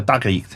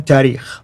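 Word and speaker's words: تاريخ: And then the last genre, the tarikh. How do you say it again? Tarikh.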